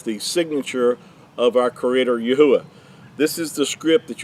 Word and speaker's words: Yahuah: about it, because they hear people say it's Jehovah, or they'll hear it pronounced as Yahweh. They'll hear it pronounced as Yehovah, and but the accurate transliteration is Yahuah.